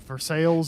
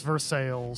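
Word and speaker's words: Versailles: is still Prague okay but ver sales is veres I just got the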